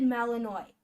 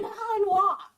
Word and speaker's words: Malinois: It said Malinois. That drives me absolutely insane. It's Yes, you're malannoying me, dear. it's supposed to be Malinois.